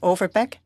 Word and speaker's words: Overbeek: I would like to say that the pronunciation of my name is Overbeek. I apologize, Mr. Overbeek.